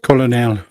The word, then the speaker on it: colonel: that's not right you know it's actually pronounced colonel colonel and left tenant but